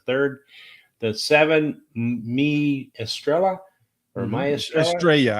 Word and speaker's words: Estrella: the seven me Estrella Estrella I think when they put the two y's together in Spanish it's a y sound yeah okay uh she